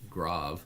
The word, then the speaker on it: grave: I like to think of this as actually, even though it's pronounced grave, it's actually pronounced grav.